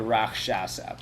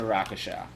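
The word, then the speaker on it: rakshasa: I know it's what it's actually a rock shot set but I'm not going to I'm not going to pronounce it correctly it's a rakasha all right Rock sounds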